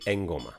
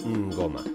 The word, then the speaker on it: ngoma: el don Don y el enoma realmente se pronuncia ngoma es como una n nasal como ya adelantamos